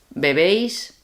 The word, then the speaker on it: bebé: Bebéis. Beben. Okay. One thing with the third person, which is bebe, bebe, is not bebé. Bebé would have an accent on the second E, Which and that is means baby.